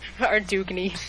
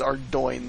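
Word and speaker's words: Ardougne: Ardugny. Please no. Everything is better than Ardugny. It's the correct pronunciation is Ardoin, though.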